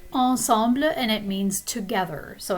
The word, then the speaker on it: ensemble: But of course, in French, this is pronounced ensemble, and it means together.